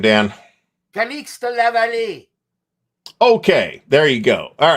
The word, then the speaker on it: Calixte Lavallée: Calixte Lavallée.